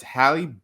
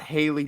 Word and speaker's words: Halle: It's Halle Bailey. Get it right. Jonathan got it right. You can do so too. And it's not Haley Bailey either, because I've heard people pronounce it like that too.